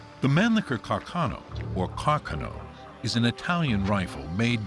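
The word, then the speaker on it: Carcano: is a 6.5 mm Caro that was the proper pronunciation although most Americans say Carano it's a mechanically operated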